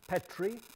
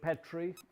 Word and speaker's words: Petrie: you see there, George Petrie and George Dunoyer. George Petrie, nowadays people often say Petrie. It's Petrie or Petrie. But when he was alive, it was Petrie. So nowadays people have altered the pronunciation.